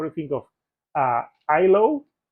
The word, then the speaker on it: IHLO: you think of uh ISO? I know they have an H. It's I H L O. But I think the H is Silent.